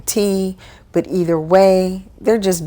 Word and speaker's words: ti: i always say hawaiian thai they are technically pronounced hawaiian tea but either way they're